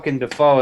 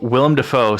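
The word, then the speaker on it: Willem Dafoe: Willam defo uh yeah I caught myself cuz we had this conversation earlier I've pronounced his name wrong since forever um but so William fo sounds like a crow and a Frog arguing Willam the foe Willow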